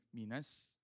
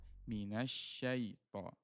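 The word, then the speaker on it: مِنَ الشَّيْطَانِ: Kalau yang pertama tadi bacanya minas. Minas dia tipis dia atau sa kecil padahal dia harusnya syin besar. Minasyaitan.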